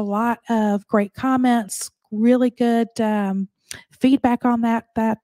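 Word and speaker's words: Gutraux: 30 six with Christine goor uh this podcast you know Christine goo it's spelled a little different it's pronounced Goo uh but it's uh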